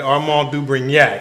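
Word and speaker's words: Armand de Brignac: You hear I pronounced that properly, right? Armand du Brignac.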